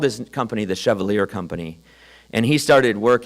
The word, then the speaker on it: Chevalier: It's actually Chevalier, but I understand Floridians pronounced it Chevalier.